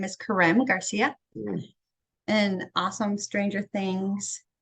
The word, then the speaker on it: Karem: I just noticed it's an M, not an N at the end. And it sounds like the accent is on the second syllable. Is that right, Karem? It's Karem, and I get that a lot. I get Kareem, Karem, and all kinds of different things.